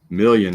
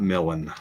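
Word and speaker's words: Doug Million: parallel doug millen million i've been saying his name wrong million not melon a good one and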